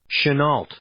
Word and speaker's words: Chenault: I don't know how to pronounce this. Chenault.